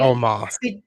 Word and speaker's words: Omos: Omos? Is that how you say it? Omos.